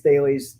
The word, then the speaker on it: Thales: I know everybody pronounces it different. Some people say Thales, other people say Thales, other people say Thales. Tomato. From my understanding, it's Thales. That's what I call it.